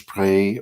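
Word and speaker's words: Spree: that corner of this pray river that's spelled SPR EE pray pronounced like an a sound talk about that again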